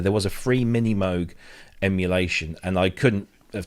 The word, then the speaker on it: Moog: love thank you mini Moog as in m-o-g-u-e spelled how it's pronounced that's a brilliant name yeah yeah I remember that's it mini Moog uh that was it